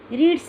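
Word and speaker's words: read: लेकिन बोलते समय रीड का उच्चारण क्या, यानी कि इसका प्रोनाउंसिएशन पास्ट टेंस में रेड हो जाता है एंड पास्ट पार्टिसिपल में भी रेड हो जाता है। तो इसको हम तीनों फॉर्म्स कैसे रहेंगे? रीड, रेड, रेड।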